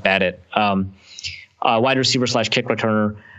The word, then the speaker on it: Badet: running back Jeff badet I think his name is pronounced bad it wide receiver slash kick